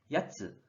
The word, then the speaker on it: 奴: 이 한자, 일본어로는 뜻으로는 야츠, 야츠라고 발음하고 음으로는 노라고 발음해줘요.